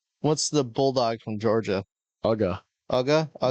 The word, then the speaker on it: Uga: Uga. Uga? Yeah. Uga's gonna be 2. Clever. It's spelled UGA, just like University of Georgia.